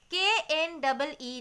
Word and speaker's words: knee: K-N-E-E, knee. Here also the same. Without K also the pronunciation will be knee.